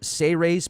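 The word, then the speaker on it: Seyrehs: It's actually pronounced Seyrays, as if it was spelled SEY-REHS, or Seyrays. Seyrays, okay. So instead of Sea Ray, like the boat, we'll call them Seyrays. Yeah, I like that. It's not series like the World Series, it's Seyrays.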